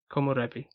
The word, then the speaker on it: komorebi: But in the little booklet that came with the box set I've got, it mentions a word in Japanese, which is komorebi.